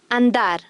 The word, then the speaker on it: andar: After an N or L, the Spanish D is hard. Andar. Mandar. Don't worry about the rules for now.